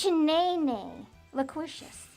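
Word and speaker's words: Chenélucious: It's Chen nay lucious. The Q is silent and it's got two apostrophes.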